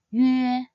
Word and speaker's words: üe: To pronounce this compound final, start by sounding out the yu sound first, and then transit into the sound, as in the word air. Yue, yue.